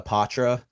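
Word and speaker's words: Poitras: changes here and speaking of changes uh Matthew Patra got sent down to Providence um which is Nice pronunciation Gabe thank you I've been working on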